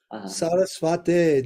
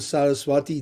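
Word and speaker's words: सरस्वते: Instead of Saraswati Deve. Yes. I know it's not it's not the long, but it's also mispronounced. Yeah. True. Yeah. It's Sarasvate Deve. It's not directly mention of Saraswati. Saraswati. It's Sarasvata. Yeah, the name of Srila Bhakti Siddhanta. So yes, this is another one. Sarasvate ending on e.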